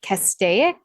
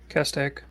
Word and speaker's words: Castaic: say this I meant to Google how to pronounce this Lake Castaic yeah Castaic Okay cool so uh CCTV saw Bryce 90